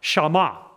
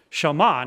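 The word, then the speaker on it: שמע: next in the italic shaman shaman as you know that in Hebrew mostly most of the time the accent is put on the last syllable you wouldn't say shama, you'd sound like you were uneducated.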